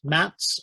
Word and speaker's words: MATZ: military aerodrome traffic zone it's pronounced mats on the channel it's